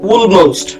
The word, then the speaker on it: almost: in almost, almost এখানে অল হয় না, almost, almost একটু উ আকারে, উকারের মতো।